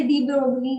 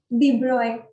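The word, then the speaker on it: de Broglie: सर ये वैसे डी ब्रोगली नहीं होता, क्या होता है? डी ब्रॉय।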